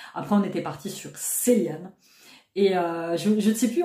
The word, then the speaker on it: Cillian: En irlandais, le C, c'est un K.